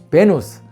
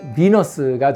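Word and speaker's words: Venus: 베누스, 굳이 영어식으로 발음하면 비너스가 되겠습니다.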